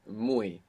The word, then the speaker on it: muy: The word for very is muy, and it's spelled M-U-Y. The Y, you can imagine it like an I.